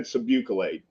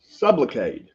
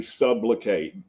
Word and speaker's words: Sublocade: So in the video, though, I said Subucalade, and I have been corrected on that about 50 times. I'm a little bit country. I'm from Fayetteville, Arkansas. It is Sublocade. So that's how it's spelled. Most everybody in the comments already knew that and caught that. So, but I wanted to get that out of the way. It's actually Sublocade, not Subucalade. So I was in a